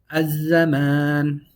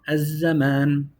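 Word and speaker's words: الزمان: Az-zaman. I extended it too long. Az-zaman. We have double zain. We don't pronounce the lam.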